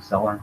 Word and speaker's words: Celler: I apologize if I mispronounce Celler. It's spelled C-E-L-L-E-R, so I'm saying Celler.